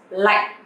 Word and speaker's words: lạnh: But you have to pronounce a little bit strong because this tone is pretty strong and heavy. So like is not lạnh or lạnh, but like. Okay, in sentence.